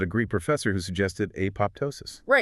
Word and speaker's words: apoptosis: Technically, the second P is supposed to be silent, like apoptosis. But I mean, pretty much every biologist today pronounces it apoptosis, so we're just going to stick with that.